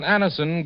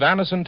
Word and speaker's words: Anacin: It's so unnecessary to suffer from the pain of headaches, neuritis, or neuralgia when Anacin gives you such incredibly fast relief.